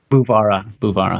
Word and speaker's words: Guevara: already told me, and I'm going to pronounce it wrong, but Guevara? It's Guevara.